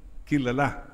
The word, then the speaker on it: kilala: Chran is the name but can people see love in marin kilala you're known kilala last syllable stress kilala pero parang Wala kang kakilala.